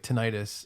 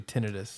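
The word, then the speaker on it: tinnitus: I think there's some accepted things like tenitis. It's actually tinidis.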